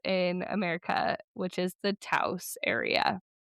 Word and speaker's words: Taos: So, it's pronounced Taos, which rhymes with house.